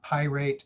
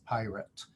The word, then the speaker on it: pirate: and read palace um it's not pyrate it's pirate so what we do